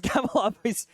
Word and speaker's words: Kabalov: He prefers Kabalov. I call him Caleb on cast all the time my first time there just because I always messed up pronouncing the name because it's Kabalov.